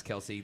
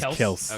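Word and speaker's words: Kelce: all starts with travis kelsey there is nobody else this is as you were saying actually him and his brother announced that the official pronunciation that name is chelsea okay so that's stupid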